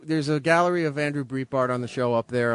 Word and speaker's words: Breitbart: Breitbart.